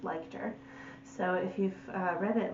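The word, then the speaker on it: Leichter: by hillary liked her i did find out how to pronounce her last name it's liked her so if you've read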